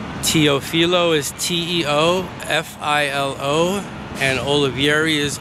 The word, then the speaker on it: Teofilo: Spell it again, that's two words, your first name and your last name. Teofilo is Teofilo, and Olivieri is Olivieri.